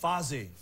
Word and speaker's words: Fozzy: Let's talk about, I believe it's pronounced Fozzy.